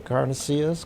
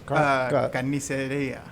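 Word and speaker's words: carnicería: The carnicillas? Carniceria. Carniceria, yeah.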